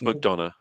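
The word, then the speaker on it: McDonough: show consistently is Neil mcdono I don't know if I'm pronouncing that name right is it McDon I think it's McDonna McDon like Madonna yeah McDonna yeah that's how mcdor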